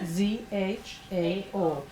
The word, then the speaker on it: Zhao: Jao? Is that right? Z-H-A-O. Jao. Tell us what the correct pronunciation is.